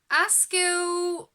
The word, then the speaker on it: Asclepios: Okay, so Asclepios, that's the pronunciation of that one.